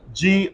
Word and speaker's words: grandeur: ion say education g-r-a-d-u-a-l say gradual say gradually g-r-a-n-d-e-u-r say grandeur I said i n d i